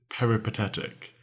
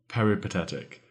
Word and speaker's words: peripatetic: also probably quite confused our third word is peretic peretic one of my fav favorite words it is spelled p e r i p a t